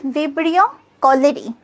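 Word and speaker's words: Vibrio cholerae: এটা কলেরা জীবাণু, কলেরা হচ্ছে ভিব্রিও কলেরি, ভিব্রিও কলেরি, দেখো ভিব রিও কোনো সমস্যা নাই, কলে রা পর্যন্ত দেখো, এখানে যখন AE থাকে আমরা উচ্চারণ করব হচ্ছে ই, বানানটা কিন্তু AE, কলে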